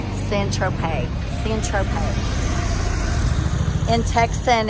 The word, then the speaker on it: Saint-Tropez: troupe how do you say it thanks ed San Tropez the interpreter in text